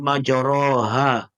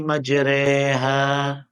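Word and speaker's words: مجريها: Alquran ada tuh Bismillahi majroha dibacanya Bismillahi majreha nah begitu seadanya Bapak Ibu dengar Bismillahi majreha Oh itu salah jangan disalahkan Justru itu yang benar di al-qur'an ada beberapa majreha itu namanya imalah yang kelima tashil tashil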